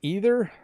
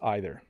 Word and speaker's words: either: Can you explain to me, little correction, why sometimes either is pronounced as E, like brie, like B, and others I, like bite. So either you say it as either, or you say it as either.